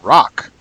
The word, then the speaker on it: rawwk: So you say, hey, that sounds like a rock, and it's spelled RAWWK.